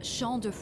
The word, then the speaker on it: Champs: imagine Champs de floors how do you say that Champs def it's sha I guess I was wrong too sha def it means Field of